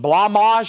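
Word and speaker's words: Blancmange: M got Blanc blamage blamage is how you say it blamage the mod was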